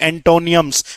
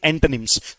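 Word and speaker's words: antonyms: हैं भाई vocab based questions की जो दूसरी टाइप है उसका नाम है बेटा अगेन आप बोलोगे एंटोनियम्स। एंटोनियम्स नहीं ओ अभी भी साइलेंट है। आप कहेंगे एंटोनिम्स।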